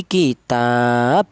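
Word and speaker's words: كِتَاب: menjadi mad arid sukun jadi kitab dibaca mad ari sukun alasannya ada mad thobi'i berjumpa dengan huruf yang diwakafkan nnya maddi sukun waakun qod ar sukunu waqfan faidun kanastain kemudian bacaan Yang kedua ya kitab ini dibaca qalqalah. Alasannya yaitu ada huruf qalqalah yang mati karena wakaf.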